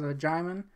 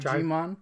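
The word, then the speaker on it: Djimon: That's how you say his name, Jaimin, not Jimon. Yeah, we always thought it was Jimon Hanzo. We were super wrong.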